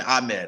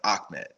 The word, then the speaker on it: Ahmed: That's one where it looks like Ahmed, but you ask him, he tells you the pronunciation. I know I've had to tell people on our air who've talked about the backfield and they're like, Salvin Ahmed. I'm like, Ahmed, and I don't want to